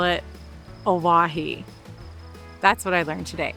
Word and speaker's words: Owyhee: For as long as we've been wanting to come here I've also been mispronouncing the name. I have always called it Aahi, but it is Aahi.